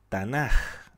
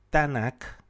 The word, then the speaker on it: Tanakh: Acá en estos momentos, cuando nosotros nos referimos al Tanaj o al Tanakh, ¿ya? Recordando que en hebreo la letra Kaf también se pronuncia Jaf.